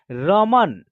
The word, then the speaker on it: रमन: अब देखिए रमन जो नाम उच्चारण हो रहा है तो र में क्या हो रहा है ना, अ की साउंड का उच्चारण हो रहा है।